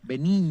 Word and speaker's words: Benigni: como escuchamos recién bueno roberto begnini benin y así se pronuncian benigni difícil de pronunciar lo que hay que